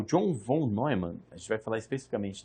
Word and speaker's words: Neumann: O John von Neumann, é estranho falar Neumann, mas é assim que pronuncia, ele aproveitou o aprendizado